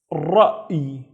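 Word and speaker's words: رأي: Now, in this case, Hamza has the circle, which means it doesn't have any vowels, so it's just So this word would be ra'i. Ra'i, which means opinion.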